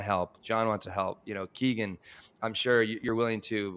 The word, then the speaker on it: Kegan: So most people pronounce the name Kegan, but the traditional Irish pronunciation of the name is Kegan. So that's what my family. So it's like, no, it's all right. All right. It's super common, and I hear it, and I don't even notice it anymore because so many people say Kegan, but it's pronounced Kegan. Kegan.